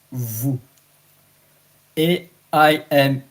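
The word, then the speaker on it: vous: are aware g it's v o u s is vu a I am E.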